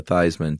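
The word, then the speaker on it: Theismann: reminded me of Joe theseman oh yeah the very famous story of quarterback Joe theseman who changed his spelling or his pronunciation to Theisman to run with Heisman right which I think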